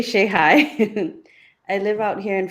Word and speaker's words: Shehaj: My last name is pronounced as Shai. Shhai.